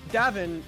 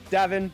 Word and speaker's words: Davin: Yeah, see, it's because Davin rhymes with Lavin, so today's his lucky day.